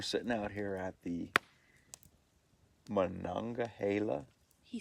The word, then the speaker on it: Monongahela: We're sitting out here at the Monongahela He said it right. State Forest Monongahela.